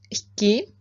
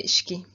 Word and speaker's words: iki: İki is two, but in speaking, sometimes you just say ishki instead of iki. Ishki was a she. Ishki. So the first K would become she, and it's become ishki.